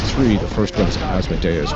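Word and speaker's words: Asmodeus: So the next three, the first one is Asodas, which is he's a demon of impurity, but he's specifically the demon of homosexuality and men. So what's Asodus? Yeah. As Modius is sometimes how you hear it pronounced as well.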